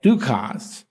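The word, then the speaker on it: Dukas: the French composer Paul Ducost. Um, it is correct to pronounce the S, by the way, I checked.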